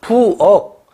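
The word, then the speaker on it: 부엌: 근데 부억, 기억이 부어크라고 발음하지 않죠. 부억.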